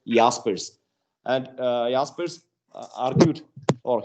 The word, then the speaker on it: Jaspers: as aspers not as jaspers because that name is a german name therefore it is pronounced as yaspers and uh jaspers argued